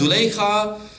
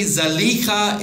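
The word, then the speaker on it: Zulaikha: This house is very grand, and his wife's name is Zalika, often pronounced as Zuleika. There's not much of a discussion to be had. Is it Zalika or Zuleika? But apparently Zalika is more correct.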